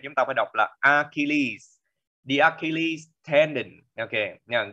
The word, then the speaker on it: Achilles: nhưng mà cái chữ này chúng ta phải đọc là Achilles.